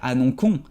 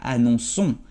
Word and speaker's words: annonçons: Porque la C, si la dejas así con una O, si sigue con la O, va a tener el sonido de K. Y nosotros no queremos que sea annoncons, pero queremos que sea annonçons. Así que guardamos la C y ponemos la cedille para que sea el sonido S.